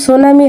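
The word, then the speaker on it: tsunami: spelling সুনামি এটা কিন্তু টি আমাদের উজ্য থাকে উচ্চারণটা কিন্তু সুনামি হয় parts of speech that modifies a noun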